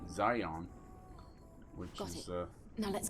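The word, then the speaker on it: Xion: we go to although it's spelled Shion x i o n it's pronounced in the game by the voice actors Zion which is uh now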